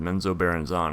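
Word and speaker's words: Menzoberranzan: being fascinated with uh I called it menzo barzen I think it's pronounced menzo barzon according to Salvatore so anyway really cool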